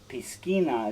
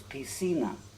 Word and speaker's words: piscina: sina it's spelled p-i-s-c-i-n-a which looks like piskina except for whenever a c become comes before an iron e it's an s sound in spanish so it's p cena and an easy way